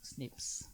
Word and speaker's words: SNP: find between people there's something called SNP which biologists pronounce snips which is lot happier